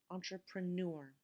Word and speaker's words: entrepreneur: the very last example this little red line indicates which syllable is stressed so the syllable after the red line is the stressed syllable entrepreneur so you can always